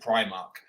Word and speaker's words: Primark: from Northern grinds me Beth says that High Street shop is she calls it pre-mark yeah okay and obviously the rest of the world and their dog calls it Primark but uh but Beth